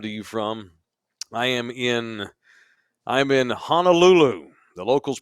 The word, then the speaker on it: Honolulu: I'm in Honolulu. The locals pronounce it Honolulu, on the island of Oahu in the hellscape that is Hawaii.